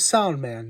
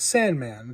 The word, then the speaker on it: Soundman: His name is Soundman, not Sandman.